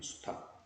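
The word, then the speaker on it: 수탉: 탁이라고 소리 나는 수탁. 리을은 탈락이 돼버린 거야.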